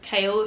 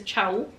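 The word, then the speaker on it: Chaol: not going to lie the way his name is spelled is not kale in my mind and I cannot read it as kale I read it as Chow but I loved throwing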